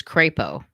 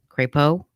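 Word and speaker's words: Crepeaux: was on your name my maiden name is krepo and um it was spelled originally from france c-r-e-p-e-a-u-x crepo but when my uh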